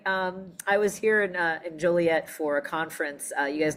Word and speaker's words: Joliet: I am currently in Joliet, Illinois and uh, did I say it right cuz I know people in Joliet gets really mad when I say Jolliet. So I'm going to say Jolliet as well but I know it's Joliet. I just said Jolliet to